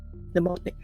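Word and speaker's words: mnemonic: Same Greek root as the word pneummonic. Same Greek root as the word pneummonic. The M is The M is silent.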